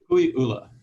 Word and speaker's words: Kukui'ula: Kukui'ula. Okay. So it's if you know the kukui tree. Right. Kukui tree was known as the candle nut tree, right? And ula is red, I believe.